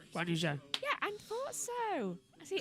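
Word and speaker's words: Zhou Guanyu: You say his name like Zoe, right? Yeah, Guan Yu Zhou.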